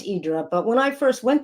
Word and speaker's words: Hydra: is the island of hydra if you don't live there and idra which is the greek pronunciation if you do live there um so for me it's idra but when i first